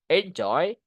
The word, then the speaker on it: enjoy: Provide provide enjoy. We can enjoy this movie. Enjoy. Ada dua suk kata kan? Enjoy. Penakannya di joinnya. Enjoy.